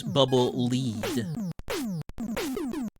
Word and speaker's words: Bubble Lead: you know there was some controversy some discussion about how that's supposed to be pronounced pretty sure the director of Mega Man 2 did eventually confirm its bubble lead and of course we